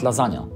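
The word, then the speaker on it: lasagna: wypowiedz słowo lazania okej po polsku pisze się to bez litery g ale teraz Widzisz jak to się pisze po angielsku i po raz kolejny Przeczytaj słowo lazania g w tym słowie jest nieme więc prawdziwy g porusza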